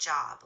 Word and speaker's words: Job: In this context it's pronounced job like the biblical figure with a long o sound.